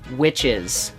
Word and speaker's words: Wyches: things about and that's witches written by Scott Snider the same guy who does the Batman series and this talks about witches but spelled with a Y so you know it's